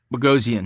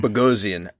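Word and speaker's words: Bogosian: Eric how do you say his last name bosan bosan just to see his performance because he there's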